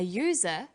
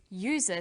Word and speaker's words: user: So we say an umbrella, but a user, because user sounds like it begins with a Y.